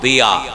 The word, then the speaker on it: জিয়া: জিয়া মানে কি? আলো শব্দের বাল দিয়া। কিন্তু বাংলাতে আমরা লিখছি জিয়া। আরবি উচ্চারণের সাথে মিল নেই।